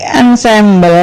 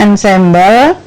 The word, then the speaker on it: ensemble: bersuara Dua tadi permainan musik ansambel yang Hai jangan sambel Joe bacanya Ensemble yaitu bermain musik secara